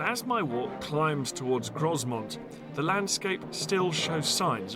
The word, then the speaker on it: Grosmont: And as my walk climbs towards Grosmont, the landscape still shows signs of how the barons managed the activities of the population.